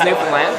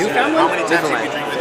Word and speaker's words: Newfoundland: So it's spelled like Newfoundland, but you don't say Newfoundland. You say Newfoundland. Okay, we say Newfoundland. Yeah, well, I'm used to it Newfoundland. It's almost more like Finland than Foundland.